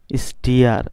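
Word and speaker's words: steer: এখানে দেখতে পাচ্ছি এস টি ডাবল ই আর, স্টিয়ার, স্টিয়ার। এখানে স্টিয়ার কেন উচ্চারণটা হলো এটা জানার জন্য উপরে আমরা 21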